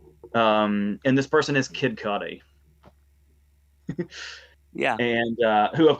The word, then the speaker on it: Kid Cudi: Kid Cudi was um you were pronouncing his name cootie and that's how I remember hearing it way way in the long ago in the way before time but yeah I definitely would say Kid Cudi now and it's like